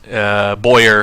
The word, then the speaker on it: Boyer: It looks like Bauer. I know. It looks like the Y is going to be silent, but the W is silent, which is bizarre.